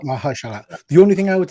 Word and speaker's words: Mahershala: Sorry, Mahershala. Mahershala.